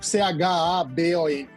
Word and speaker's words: Chabon: Escreve Chabon, C-H-A-B-O-N. Mas ele pronuncia Chabon.